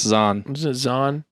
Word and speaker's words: Zahn: and E okay and Steve Zane is z-a-h-n isn't that Steve Zahn yeah that's zon we know an Azan